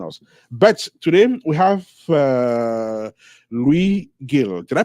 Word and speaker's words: Luis Gil: But today we have Luis Gil. Did I pronounce it correctly?